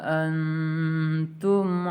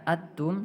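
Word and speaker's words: أنتم: Tidak dibaca atum, tidak dibaca juga antum, tapi sedikit ditahan dengan dengungan. Antum.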